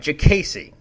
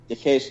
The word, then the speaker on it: Diakiese: He's the Bone Crusher, Marc Diakiese. Did I say it right? Diakiese. Diakiese, that's right.